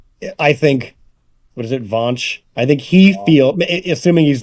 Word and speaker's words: Vaush: What is it, Vaush?